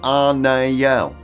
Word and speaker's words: Anael: And before anyone starts, it’s pronounced Ah-na-el… there’s absolutely no mention of backdoor shenanigans.